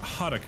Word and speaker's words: Haruka: It's Haruka, as in like the Japanese pronunciation of the R, yeah, right?